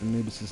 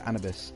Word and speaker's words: Anubis: who who actually pronounced anubis's name properly and he was like no it's an abyss and i was like no it's anubis and he was like no it's annabes and then another student